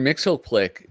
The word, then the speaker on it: Mxyzptlk: Mxyzptlk, that was one where it was like the